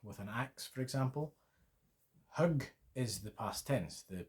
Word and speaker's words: hugg: Hugg. H-G-G. Hugg. Yep, it means something totally different. Hugga. H-U-G-G-A means chop or hack with an axe, for example. Hugg is the past tense, the preteritum.